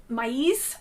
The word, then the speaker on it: maize: This week's project will be the maize, or maize, which is how they're pronounced in Spanish, but the maize mittens, M-A-I-Z-E.